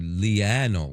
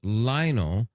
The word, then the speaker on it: Lionel: Like if if it mispronounced my name and said Leano or something like that. I say, "No, it's Lionel."